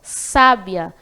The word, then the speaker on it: sábia: bastante sabe então sábia Nesse caso tem a sílaba tônica bastante Clara aí porque tem um acento agudo na primeira sílabas A então sábia a sílaba tônica a primeira sílaba cá já sabe a